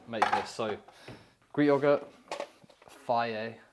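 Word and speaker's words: Fage: So Greek yogurt, Faye, not phage, even as it's spelled like it should be pronounced phage, it's Faye.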